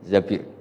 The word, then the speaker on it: Zabir: Di hadis ini bukan bacanya bukan Zubair tapi Zabir, Abdurrahman bin Zabir.